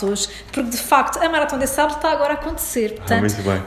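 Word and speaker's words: Marathon des Sables: que é, corrige-me se eu estiver errado na pronúncia, Maratón des Sables.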